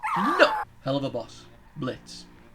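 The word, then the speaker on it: Blitzø: Blitz. I never mispronounced it. The O silent.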